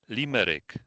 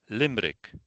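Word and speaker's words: Limerick: A limmerick. B. Limick.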